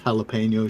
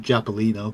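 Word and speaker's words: jalapeño: I work with someone, a Scottish lady who can't pronounce jalapeno. She calls it Japalino.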